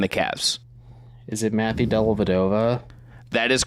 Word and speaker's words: Dellavedova: about Australia and the Cavs is it Matthew dellavedova that is correct Deli has signed to Melbourne